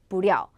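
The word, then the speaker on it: 不料: 발음은 찡란, 쥐란, 부랴.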